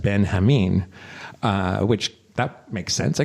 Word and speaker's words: Benjamin: And there's what I would have called General Benjamin is pronounced Ben Hameen, which that makes sense, I guess, because it's a Spanish setting.